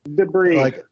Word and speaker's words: debris: of a debris uh you mean debris yeah but it's a s is not pronounced right I might have